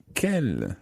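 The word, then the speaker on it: quel: then you would ask telephone the telephone no Kel is an interesting word literally it means which is spelled q-u-e-l here because we're talking about numero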